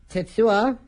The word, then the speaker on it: Tetsuya: You are listening to Ring Rust on Tetsuya, I think, since I don't know, because apparently you don't pronounce the U.